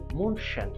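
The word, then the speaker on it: München: জার্মানির বায়ান রাজ্যের রাজধানী জার্মান ভাষায় শহরটির নামের উচ্চারণ মনশান শহরটির ঈশার নদীর তীরে বেভারিও আলস এর উত্তরে অবস্থিত।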